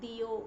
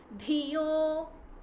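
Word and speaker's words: धियो: Again it is second dha, it is not diyo, it is dhiyo.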